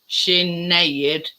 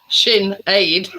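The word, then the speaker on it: Sinéad: Sort of when you're sort of breaking it down, Sinead is how you pronounce it. Shin aid.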